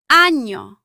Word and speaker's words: año: Niño, año, España.